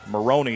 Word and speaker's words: Moroni: Moroni is how you say it. Imagine a kid from Central Utah saying Moroni.